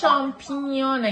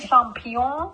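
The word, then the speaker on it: champignon: برای معنی قارچ میده اون چهجوری اون شامپینیونه یه جی وسطش داره آها اون چه تلفظ میشه این شامپیون اون شامپینیون شامپینیون اوکی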